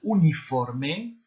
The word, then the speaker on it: uniforme: ¿De qué se compone el uniforme? Pas de E muet en espagnol.